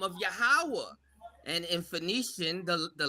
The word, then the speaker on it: Yahweh: So now you got the ya, the ha, and the wa, and the H is silent. Yahweh, you welcome.